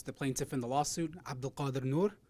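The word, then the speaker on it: Abdulkadir Nur: Next, I'd like to introduce the plaintiff in the lawsuit, Abdul Qadir Noor. Abdul Qadir is spelled Abdulkadir. Noor is spelled Nur.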